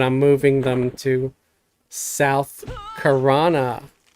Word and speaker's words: Karana: And then Monday, I might come back to play these guys but I'm moving them to South Karana. I said it right this time. I didn't say South Row.